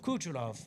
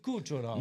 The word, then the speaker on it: Kucherov: Nikita Kucherova. How do you say that? Is that Kucherov. hold on, let me see what we got here so I can Nikita Kucherov. Kucherov.